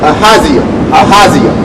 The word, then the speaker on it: Ahaziah: Yeah, because that's how you say his name, Ahaziah.